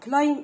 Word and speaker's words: climb: climb a mountain يتسلق جبل. climb البي silent.